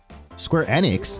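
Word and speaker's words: Square Enix: Square Annex, that's how you pronounce it.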